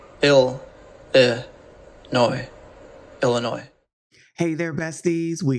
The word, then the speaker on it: Illinois: Illinois this video we'll look at how to pronounce Chicago and Illinois ill noi Illinois hey there besties we got to talk